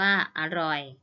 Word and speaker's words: อร่อย: อ่าน ว่า สะ นัก เรียน จะ เห็น ว่า คำ คำ ที่ คุณ ครู อ่าน เมื่อ กี้ นะ คะ ออก เสียง อะ หมด เลย นะ คะ คะ ด้าน หน้า นะ คะ แต่ ออก อะ ครึ่ง เสียง นะ คะ ออก เสียง อะ กึ่ง เสียง แต่ ไม่ มี รูป